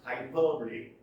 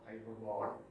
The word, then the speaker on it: hyperbole: It is pronounced hyperbole, not hyperbole.